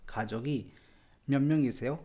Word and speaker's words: 가족이 몇 명이세요: म्यत म्यंग इसेयो खाजोगी म्यंग इसेयो। इसको जल्दी से मिला के बोलेंगे तो म्यत में त का प्रोनाउंसिएशन बहुत ज़्यादा क्लियर नहीं आएगा। म्यंग इसेयो ऐसे आएगा।